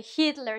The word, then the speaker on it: Hitler: We say Hitler, too. If you read and you're going to read a speech about Hitler in your uh in your cla in your classroom, um you're going to pronounce the H.